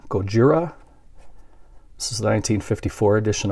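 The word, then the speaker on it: ゴジラ: is a Godzilla or as they pronounce it over in Japan Gojira this is a 1954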